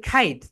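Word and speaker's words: kite: সো এটাকে বাংলাদেশিরা আমরা সবাই বলি কাইট, কিন্তু রাইট প্রোনাউন্সিয়েশন হবে খাইট, যেহেতু শব্দের শেষে খেই রয়েছে।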